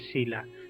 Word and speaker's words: Shelah: Me pueden encontrar en Instagram como Sheila. Mi nombre se escribe Shelah. Mi mamá me puso un nombre medio complicado, pero con gusto de poder apoyarles en cualquier cosa que necesiten. Excelente. Sheila PE en Instagram Instagram y Facebook.